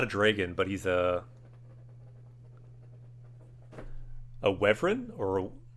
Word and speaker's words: wyvern: And in this game Warhammer, they had these wyverns, these kind of dragon beasts. I always called them wyverns though. I don't know why I like that pronunciation, but I think it's wrong. Yeah, it's pronounced Wyvern.